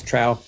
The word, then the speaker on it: Trowe: It's Trowe, but that's Trowe.